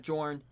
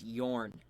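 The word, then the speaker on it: Jorn: Except it's not Jor. Anybody who has ever called him Jor is wrong. It's Yorn because he's Norse. The J's are silent. Well, not silent. They're pronounced like Yuz.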